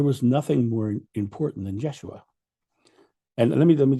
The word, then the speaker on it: Yeshua: And my memory is it's it's the pronunciation of it is like a mix of the two. It's like a Yeshua.